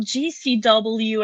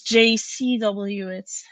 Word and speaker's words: JCW: god, you were on GCW, and I was like, no, it's JCW, it's a J, not a G.